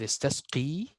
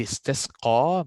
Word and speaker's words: اسْتَسْقَى: Will I say وَإِذِ اسْتَسْقِي or وَإِذِ اسْتَسْقَى? So if it's only ya, I will say اسْتَسْقِي. But there is a alif here. There is alif above. So I always pronounce the one on the top.